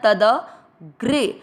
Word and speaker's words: तदग्रे: अक्षर पूरी मिक्स करना तद ग्रे। ग्र का मतलब हुआ ग आधा और र पूरा। ग्र पर एक की मात्रा ग्रे तदग्रे।